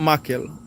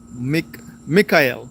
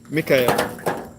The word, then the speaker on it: Mikael: I see, not Michael, Mikael. Okay, Mikael.